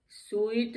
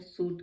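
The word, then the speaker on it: suit: अब सूट में भी देखिए स्वीट नहीं कहते हैं, सूट कहते हैं।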